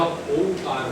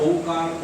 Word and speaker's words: ओम: उ कप इसका लंबा ओमकार के उच्चारण में ओ का नहीं म का दीर्घ करना है र्म प्रव उचार मनो